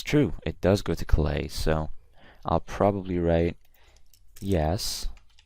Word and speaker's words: Calais: And by the way, guys, this is pronounced Calais, not Calais. It's a city in northern France.